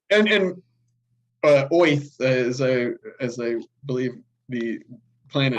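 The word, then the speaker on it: Oerth: I think it's Yeah, actually pronounced Oath, like a like a Jewish New guy Yorker.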